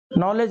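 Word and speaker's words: knowledge: नॉलेज, नॉलेज में D silent होता है, डी साइलेंट होता है।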